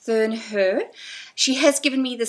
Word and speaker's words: Thurnherr: today we have Camille and her surname is pronounced ther her she has given me the Swiss pronunciation I'm